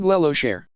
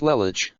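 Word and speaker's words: Lelouch: Lamparog Lelocher. It's pronounced Lamperouge Lelich, I correctly calmly.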